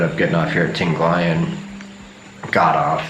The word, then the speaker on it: Tinglayan: I can never remember how to pronounce this place. Tinglayan. Okay, it's called Tinglayan.